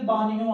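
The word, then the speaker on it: bagno: GN जब भी इकट्ठा आता है तो आवाज N की आती है। अच्छा जी, अच्छा जी, सबसे पहले हमारा आएगा बानियों के अंदर वास्का दा बानियो।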